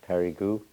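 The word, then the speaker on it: Périgueux: We pronounce it Perigu and Ajang.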